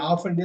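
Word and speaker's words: often: முடியாந்துரும் எதுக்குங்க ரொம்ப முக்கியம் அமெரிக்கால இந்த டீயை உச்சரிப்பாங்க ஆப்டன்பாங்க யுகேல இந்த டீயை உச்சரிக்க மாட்டாங்க ஐ ஆபன்பாங்க நீங்க ஐ ஆபன்னே சொல்லுங்க டீ வந்து சைலெண்ட்டா சொல்லுவோம் ஐ ஆபன் ஆமா நம்ம ஆபன்னு சொல்றது மெயினா யுகேல அமெரிக்கால பல பகுதிகள்ல ஆப்டன் என்பாங்க நீங்க ஆபன்னே சொல்லி பழகி ஆபன் ஏன்னா அமெரிக்கால சில பகுதிகள்ல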